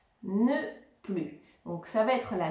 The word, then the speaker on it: plus: utilisée avec plus ne plus attention ne prononce pas le S ne plus donc ça va être